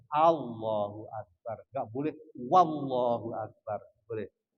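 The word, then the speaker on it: الله أكبر: Tidak menambahkan wawu sebelum lafal Allah. Jadi apa? Wallahu Akbar. Nggak boleh. Harus Allahu Akbar.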